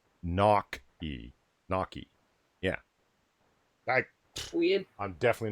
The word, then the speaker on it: gnocchi: Yeah, actually, evolved potato, if I remember correctly, he's saying in chat right now that's not how it's pronounced. I've always heard it as gnocchi, but apparently he's saying it's gnocchi.